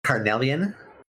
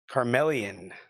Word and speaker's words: Carnelian: Carnelian. Is it what is it? Carnelian. Carmelian. Carnelian. C A R N E L I A N. Carellian.